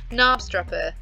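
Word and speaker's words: Knabstrupper: habit guys i'm sorry nabstrapper this k is silent right let's have a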